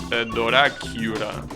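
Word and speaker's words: ドラキュラ: But the way it's written, it's Doracura.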